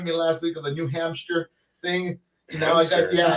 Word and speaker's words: New Hampshire: making fun of me last week of the New Hampshire thing. You know, I got You're still saying I'm it. Still saying it. I know. You have a hamster? Yeah, you got a New Hampster.